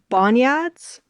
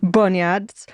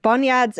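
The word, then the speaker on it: bonyads: And I'm going to mispronounce the first one cuz I've only ever read it. I've never said it aloud, but biads. Is that right? Bon bonads. Yeah, bunads. Okay. Boniads and then invisible ports.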